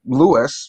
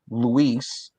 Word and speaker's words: Luis: My name is Louis, but the proper pronunciation is Luis. But there are people that can't say Luis, and that's just 4 letters.